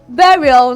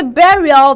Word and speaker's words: burial: which pronunciation here now if you do say barrial then you will get this wrong because in the trending